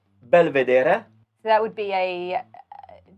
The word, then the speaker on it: belvedere: the next one is i'll pronounce it the italian way belvedere so that would be